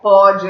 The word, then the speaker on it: pode: Ó, pode é som aberto, pôde é som fechado.